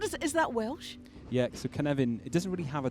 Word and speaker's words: Cynefin: Now, you play as Cynefin. Am I pronouncing that properly? You're pronouncing it perfectly, yes. Excellent. That's what I like to hear. Great. And what is that Welsh? Yeah, so Cynefin, it doesn't really have a direct translation into